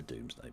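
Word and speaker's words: Domesday: Ironically, um, uh, it's it's pronounced the Doomsday Book. That's just how it's pronounced.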